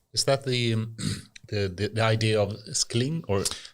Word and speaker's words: Scling: Is that the idea of Scling, or Scling is the pronunciation?